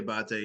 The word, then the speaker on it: Diabate: Is it, did I pronounce that correctly? Yeah, Diabate, yeah.